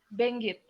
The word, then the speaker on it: Benguet: Bacanya betul ya Mbak? Ya, Benguet.